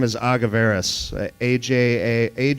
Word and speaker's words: Agaverus: no no judgment here it's a madeup Spanish word that we came up with anyway so you know